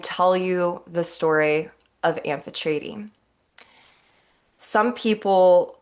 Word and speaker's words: Amphitrite: I talked to my friend who lives in Cyprus and I double checked with her and asked her is the correct pronunciation amphetrady and she said yes only she did it